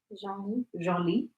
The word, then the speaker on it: Genlis: Genlis.